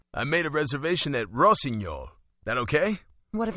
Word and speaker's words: Rossignol: Don't want to disappoint, and Rossignol is fine. Also, I'm impressed you pronounced it correctly.